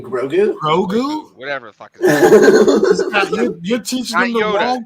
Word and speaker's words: Grogu: Morgan three my son's like gragu you mean grogu Rogue whatever your own